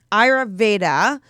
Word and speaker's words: Ayurveda: Ayurveda, pronounce it for me. Ayurveda.